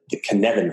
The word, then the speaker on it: Cynefin: want to invoke the Knevin framework from Dave Snowden, spelled C-N-Y-F-E-N, I think, or F-I-N, I forgot. Okay. It's pronounced Knevin, but it's Welsh, so it's spelled Cynefin.